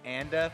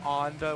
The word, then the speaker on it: Anda: Actually, he also gave a little anecdote on how to say the name. He says Anda because his name is Andy. Because his name is Andy. So I'm going to try and stick to that, even though so so many people have taken the kind of like high road pronunciation of Anda, which sounds very pretentious.